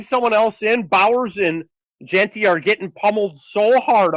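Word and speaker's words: Jeanty: Why do you pronounce him GT? It makes him sound like a genie. It's Genty. Is that the Canadian in you? Yeah, it's Genty.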